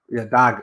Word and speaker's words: Dag: Is it Dad or Dag? Sorry, but Dag. Okay, that's how we pronounce it.